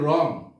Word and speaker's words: wrong: তারপর হচ্ছে wrong, wrong শব্দের অর্থ হচ্ছে ভুল। তাহলে আমরা এখানেও জানলাম w এর উচ্চারণ হয়নি, এখানে w ওয়ার্ড বা অক্ষরের উচ্চারণ হয়নি।